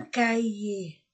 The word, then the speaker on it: cahier: livre des livres un cahier un cahier d'exercice un cahier cahier le on ne prononce pas le H un cahier un cahier